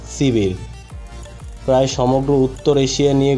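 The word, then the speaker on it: Сибирь: Siberia, যার উচ্চারণ সিবির, প্রায় সমগ্র উত্তর এশিয়া নিয়ে গঠিত একটি বিস্তীর্ণ ভৌগোলিক অঞ্চল।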